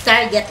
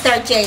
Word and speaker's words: Target: Pero sa akin, guys, Target yan. Ang iba niyan is Tarjay, the proper pronunciation.